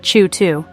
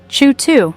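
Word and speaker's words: CHOOH2: up with the answer ch2 TM pronounced chw 2 chw 2 not its actual chemical formula is a complex grain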